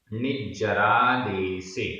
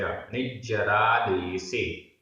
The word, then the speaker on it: निज्जरादेसे: निज्जरादेसे, निज्जरादेसे, आधा ज पूरा ज, निज्जरादेसे।